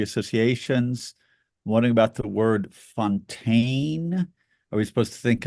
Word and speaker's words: Fontaine: my my free associations wondering about the word Fontaine are we supposed to think of fountain or French Fountain and they mispronounce it's obviously Fontan they it's pronounced actually Fontan but they say weird localization and I believe